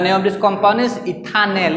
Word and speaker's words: ethanal: This is नॉट इथानॉल, this is इथानेल aldehyde. Okay, ETHANAL ethanal.